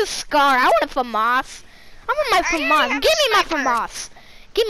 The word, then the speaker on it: FAMAS: I want a FAMAS. I want my FAMAS. Give me my FAMAS. Give me a FAMAS. I want a FAMAS. Rishi calls it a famous. It's called a FAMAS.